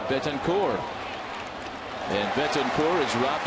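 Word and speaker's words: Betancourt: can this be that we've thought it was Bettton Court all these years and you're telling us otherwise?"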